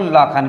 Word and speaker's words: Lakhan: Same spelling रहेगी, LAKHAN। आप इसको लखन पढ़ लीजिए, लाखन पढ़ लीजिए, लखान पढ़ लीजिए, या लाखान पढ़ लीजिए, ये चारों ही हमारे सही रहेंगे।